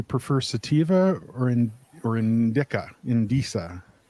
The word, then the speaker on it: Indica: sativa or in or indica in disa Indica that's not my preference that's just how you how you pronounce it um you know honestly